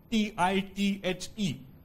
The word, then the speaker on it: tithe: T-I-T-H-E. Despite the spelling, the pronunciation is tithe.